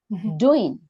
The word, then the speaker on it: doing: different good different then doing d o is underlying so doing doing good doing then longer